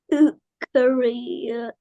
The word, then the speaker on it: eukaryote: Eukaryote. Okay. You say it like this. Um, You carry out.